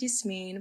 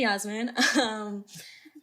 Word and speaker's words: Yasmine: Oh, I guess this is time to let you all know my name's actually pronounced Yasmin, but I was really complacent about it in college, so don't say Yasmin.